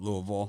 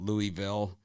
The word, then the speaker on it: Louisville: I call it Louisville. Some people call it Louisville, Louisville. Nobody calls it Louisville. Maybe I do. Brian probably does. No, it's Louisville.